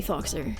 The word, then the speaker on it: Faux: I intended for the name to be pronounced for, like for, like sore, tor, shore, for. No one called me that. They called me Foxer, and so I said okay.